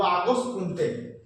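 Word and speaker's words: Auguste Comte: সমাজবিজ্ঞানের জনক হচ্ছে আগস্ট কমতে বলে বা কমতে বলে হয় অনেকে। এর উচ্চারণটা এরকম প্রশ্ন কিন্তু আসতে পারে যে সমাজবিজ্ঞানের জনক কে? আমরা বলব আগস্ক কমতে।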